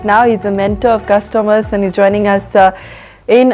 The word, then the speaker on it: Custommerce: Custommerce is a better pronunciation than customers. It's a combination of two words, customer and commerce.